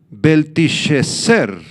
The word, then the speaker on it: Belsasar: malvado nombre de belsasar en el idioma babilónico belsasar se pronuncia beleser beleser que significa Bel proteja